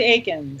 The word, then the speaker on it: Eakins: It's Jennifer, and its last name is pronounced Eakins or Eakins? It's actually Eakins. Eakins, all right.